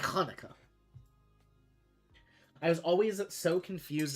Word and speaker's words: Hanukkah: there and I'm like, have I been pronouncing it wrong the whole time? No, you're good. You actually Well, you have been pronouncing it wrong because you haven't been going into the back of your throat, but uh God